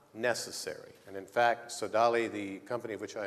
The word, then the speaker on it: Sodali: sir thank you very much um the correct pronunciation is sodali thank you and uh um as you can